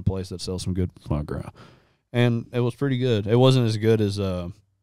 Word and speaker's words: foie gras: How do you actually pronounce it? Foie Gras.